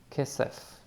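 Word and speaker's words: כסף: And it has the dad or the dagesh in it, and therefore it's the hard pronunciation. So it's not a ch, it's k. The vowels, both of them are e sounding, so it will be ke, se, and the final letter is f.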